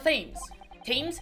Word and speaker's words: Thames: By falling under a passing carriage, or drowning in the Thames. Thames? I think it's pronounced Thames.